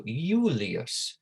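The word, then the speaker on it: Iulius: saying the name julius remember there was no j in latin and made more about yeah sound you might remember when we went through the pronunciation made more like a yeah right so yulias julie assume i am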